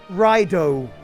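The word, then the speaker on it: Raidou: And that's pronounced rhyo, but you don't really notice the U sound because it comes after an O, which sounds somewhat similar.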